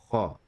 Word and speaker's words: خ: Kha is like saying ha, but with a strong friction from the back of the throat.